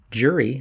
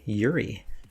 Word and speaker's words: Juri: as i previously determined the j is silent so he actually prefers to go by yuri anyways yuri also has